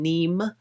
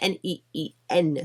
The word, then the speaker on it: NEEN: I was saying Neem. It's N-E-E-N, so Neen.